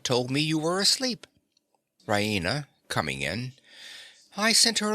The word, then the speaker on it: Raina: of good news Rena she pronounces it Rena with the stress on the E Rena she goes to the